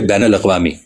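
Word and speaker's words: بین الاقوامی: आसान भी होता है एक लफ्ज है बैनल अवामी अब बैन के नून पर जबर है मगर उर्दू के अक्सर लोग बैन के नून पर पेश पढ़ते हैं बुनियादी तौर पर यह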